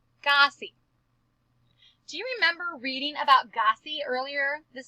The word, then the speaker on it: Gossie: 2 syllables in Gossie's name. Now we're going to name the letters. G-O-S-S-I-E. And we're going to study it very closely. I notice it has a g sound at the very beginning, and it has that capital G.